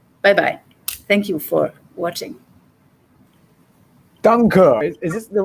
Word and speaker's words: Danke: Danke. Is this the right pronunciation of thank you in German?